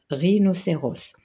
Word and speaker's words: rhinocéros: précédé par P là h elle est précédée par r donc on prononce R rinocéros là c'est chouette C